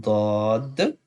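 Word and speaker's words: ض: And I told before that dod we can pronounce easily when we touch the side of the tongue with the lower side teeth. Then we can pronounce easily dod, dod.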